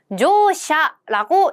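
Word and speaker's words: 乗車: 자, 동서로 노루라고 읽었던 그 한자, 이렇게 음독으로 읽을 때는 조샤라고 읽습니다. 자, 승, 받침이 있으니까 우까지 들어가 있네요.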